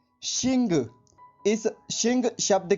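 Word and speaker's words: xìng: आज का हमारा दूसरा शब्द है शिंग। इस शिंग शब्द की स्पेलिंग है XING, शिंग।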